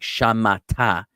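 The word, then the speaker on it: שָׁמַעַתְּ: So it would be, instead of like shamata is you, shama, you did that verb. For a woman, it would be shamat, just the T sound alone, shamat for feminine.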